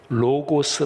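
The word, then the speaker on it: λόγος: 티어 코니 아 이렇게 말씀 드렸는데 말씀은 헬라어로 로고스 라고 발음합니다 우리 개성 드림 들은 이것은 다 아시죠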